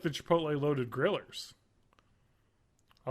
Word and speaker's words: chipotle: I actually like the Chipotle loaded grillers. I like the chicken. I believe that's pronounced chipotle.